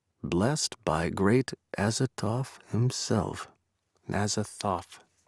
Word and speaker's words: Azathoth: Azathoth. Right? The TH is pronounced. Right. not The first tough. one, yes. Right. For some reason, I was thinking it was a T now.